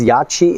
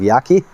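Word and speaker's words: Yaqi: So it's Yachi instead of Yaki.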